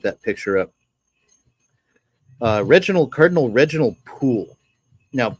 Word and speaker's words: Pole: picture up, Cardinal Reginald Poole. Now, Poole is usually spelled Pole, but the actual pronunciation in English at that time, it's Poole.